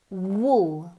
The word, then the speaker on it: wool: Wool, wool, hueco, huelva, huevo, wool, como un búho, ¿ok?